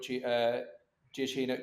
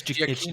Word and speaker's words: Giacchino: I was so looking forward to seeing what Giacchino. Oh my god, that's not how you pronounce it.